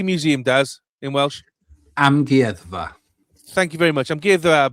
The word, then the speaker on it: Amgueddfa: Amgueddfa.